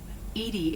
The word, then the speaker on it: EDI: why are you named edie edie is the phonetic pronunciation of edi that is an acronym for enhanced defense intelligence how are you getting